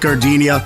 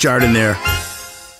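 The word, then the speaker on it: giardiniera: Hey guys, when you're at the counter, don't call it gardenia. It's pronounced Jardiniere.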